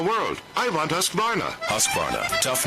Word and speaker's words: Husqvarna: now how to say husqvarna you say husk like corn and barn like varnish without the ish and